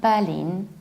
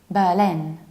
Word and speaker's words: Berlin: one yet Deutschland Germany the capital of Germany is not battling not Berlin but Berlin Berlin who stressed the last syllable Berlin or an American